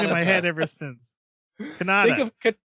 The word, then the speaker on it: Kanata: Kanata. Think of katana, Kanata. but switch the N and the T.